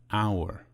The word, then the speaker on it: hour: We say a house, but we say an hour. We say an uncle, but we say a university. Why? The letter H at the beginning of the word hour is silent.